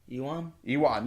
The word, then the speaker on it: Ewan: Let me see, Erwin. No, Ewan.